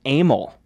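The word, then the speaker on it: Emil: kind of thing but my middle name is it spelled EMI L how would you assume that's pretty mi l yeah like ml or a meal or something right it's pronounced a Mille so it looks like email and it sounds like anal and it's like who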